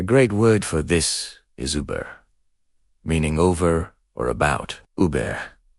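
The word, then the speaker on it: über: Similar to the last one, shape your lips for an O sound, but say a great word for this is uber meaning over or about.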